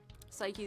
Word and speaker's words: Psyche: sorry Chrono Trigger fans psyche is the proper pronunciation since it's named after the Greek goddess yeah no I acknowledge